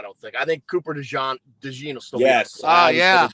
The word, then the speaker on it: DeJean: We're getting Is it pronounced DeJean? Is it DeJean or DeJean? DeJean.